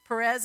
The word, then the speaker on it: Perez: are twins yeah i put it right there perez and zara that's how you say it does